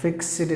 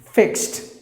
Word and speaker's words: fixed: the bankers will say usually they say that fix city deposit fix it a deposit no no not fixative just imagine them the ad put together pronounce like team fixed fixed deposit you can say that